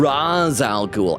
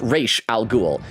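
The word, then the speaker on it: Ra's al Ghul: Okay, so you have the bad guy Raal Ghoul despite the fact that in Batman Begins in certain other media they call him Razal Ghoul. I know it's spelled Raz R apostrophe S, but like the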